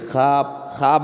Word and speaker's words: خواب: علامت ہے۔ واو معدولہ واو معدولہ وہ واو ہے جو لکھا جائے لیکن پڑھا نہ جائے۔ واو معدولہ کس واو کو بولیں گے؟ جو واو لکھا تو جائے گا لیکن پڑھا نہیں جائے گا ہے، جیسے دیکھیے خواب میں واو ہے، واو لکھا تو گیا لیکن پڑھا نہیں جا